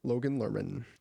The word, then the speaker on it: Logan Lerman: Logan Lerman.